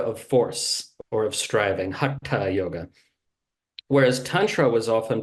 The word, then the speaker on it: haṭha: Most people pronounce it Hatha Yoga, right? It's Hatha Yoga.